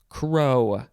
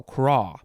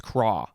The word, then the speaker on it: craw: dictionary is judging you crow crow no craw yeah it's craw the pronunciation thing says k-r-o but there's a dot on the o so it means you got to pronounce it a certain way and i just read it real quick and thought it said crow no it's craw noun from the 14th